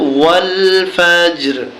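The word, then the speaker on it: والفجر: র জের রি ফাজি যখন আমরা এখানে ওয়াকফু করবো তখন উচ্চারণটা হবে ওয়াল ফাজর ফাজর এরকম হবে দেখুন জিমের নিচে একটি তীর চিহ্ন আছে এরকম চিহ্ন আমরা যেখানে পাবো কলকলা করে পড়বো ফাজর ঢাকা দিয়ে পড়বো ওয়াল ফাজর ফাজর হয়ে গেল প্রথম আয়াত এবার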